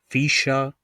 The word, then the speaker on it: Fischer: If the letters ER is found at the end of the word, then they are pronounced as A. For example, Fischer, Fahrer oder Bier.